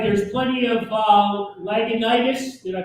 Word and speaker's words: Lagunitas: All right, there's plenty of Lagunitas. Did I pronounce that properly? No. Did I butcher it? No, Lagunitas.